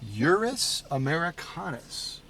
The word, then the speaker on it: Ursus americanus: Ursus americanus.